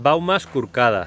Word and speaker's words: Baumes Corcades: ¿Y cuál es la pronunciación exacta en catalán? Porque a mí no me sale. Las Baumas Curcadas.